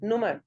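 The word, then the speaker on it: Nummer: 0, हाँ, my handy number is नुमर, नुमर, नंबर नहीं, नुमर, नुमर, number नुमर, number नंबर नहीं बोलना, नुमर, यस बोलिए।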